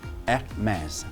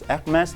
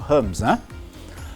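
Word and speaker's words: Hermès: A lot of people say this is Hermes, but the correct pronunciation for this French brand is called Hermes. Hermes. Okay, please note it's Hermes, not Hermes.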